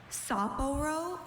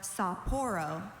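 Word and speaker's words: Sapporo: Soporo. Saporo. Can I have a definition? Saporo is a city on western Hokkaido, Japan. Uh, can are there any alternate pronunciations? Saporro or Saporro?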